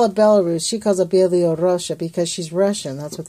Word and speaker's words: Belarus: So this is one country of called Belarusia, right. or however you say it, Belarusia or something. Belarus. And Belarus, I guess.